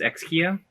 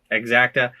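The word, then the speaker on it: Exakta: But this, like this, how do you pronounce this? Exkia? Exacta.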